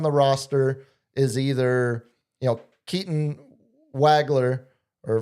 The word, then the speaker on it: Wagler: Wagler, it's the German V. The W, German W is a V, is how we pronounce a Nowitzki.